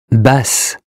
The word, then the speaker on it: Basse: Basse. Basse with two S's as in sassy.